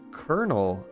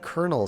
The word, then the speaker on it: colonel: word Ronan let's see after I learned colonel and colonel sound the same I stopped expecting the